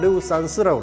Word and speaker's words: 유산슬: 자, 이렇게 해서 유산슬 밥의 재료를 소개해 드렸습니다. 이제 본격적으로 유산슬 밥을 만들어 보도록 하겠습니다. 이제 유산슬 뜻을 먼저 설명한다고 그러면요. 유산슬이라는 거는 중국 발음으로 르우산스라고 그럽니다.